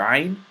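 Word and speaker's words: ع: This is a throat letter, and it's specifically pronounced from deep part of your throat, and the warm-up that will help you pronounce this letter is the gargle and spit warm-up.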